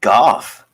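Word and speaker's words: Geoff: It's pronounced Goff.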